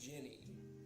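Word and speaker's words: djinni: It's pronounced Ginny, and if you watched my previous stream, you would know that.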